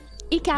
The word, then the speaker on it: Hikaru: Americans, because of course the HI is pronounced like HE in Japanese.